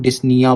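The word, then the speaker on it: dyspnea: तो जब सांस लेने में दिक्कत होती है, ऐसी कंडीशन ऐसी कंडीशन को हम लोग डिसनिया बोलते हैं। पी साइलेंट होता है।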